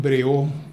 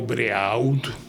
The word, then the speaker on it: Brehaut: Esta noche tengo el gusto de presentarles a Iván Breau, o Breaud, como se quiera pronunciar, o Breau en francés, Larrea, que es un joven.